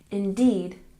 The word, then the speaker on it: indeed: w very good and indeed we stress the second syllable indeed indeed and did it's